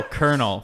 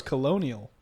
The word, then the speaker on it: colonel: Oh, Colonel. Fuck that word. I thought that was colonial.